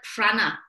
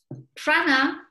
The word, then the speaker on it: prāṇa: It comes from the word prāṇa, which is spelled P-R-A-N-A. Prāṇa means life force.